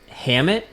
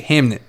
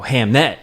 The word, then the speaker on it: Hamnet: I'll even spell it for you. H A M N T. Hamnit. Oh, Hamnet. Oh, well, that changes everything.